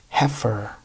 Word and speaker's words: heifer: Heifer. Which is a female cow. Heifer, same as berry, heifer.